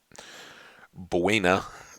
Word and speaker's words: Buena Vista: and yet that it buena is spanish but you call it buna it's kind of the same the town where